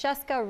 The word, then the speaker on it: Scieszka: pronounce their names and he said it's Cheska rhymes with Fresca and he has written